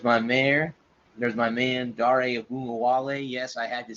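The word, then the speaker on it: Ogunbowale: they do there's my mayor there's my man Dario wale yes I had to say that a bunch of times guys to get that down so it's dari Wally yes that's how you pronounce his last name heard on the radio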